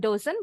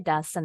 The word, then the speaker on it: doesn't: matal Yes nice Nah bukan dosen bacanya kalau doesen itu artinya doesn't doesn't itu lcin Ini bacanya doesn't Mirip ya tapi s-nya